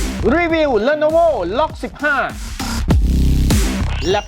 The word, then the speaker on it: LOQ: คือ Lenovo ล็อค ครับ สะกด ว่า loq ออก เสียง ว่า ล็อค เลย นี่ คือ Gaming